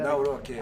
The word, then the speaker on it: Nawrocki: better- Nawrocki.